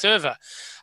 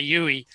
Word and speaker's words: Euwe: And when I said Euwe, because I learned how to say it, no one would understand what you were talking about anyway. So you had to say Euwe, and then people would understand.